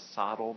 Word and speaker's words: SoTL: abbreviated as so Dalls sometimes people pronounce it as saddle but I like so little better and that's more the